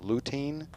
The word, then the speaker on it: lutein: Uh, eggs contain, and I'm might be mispronouncing this, but luteine, like protein, which prevents cataracts and muscle degeneration.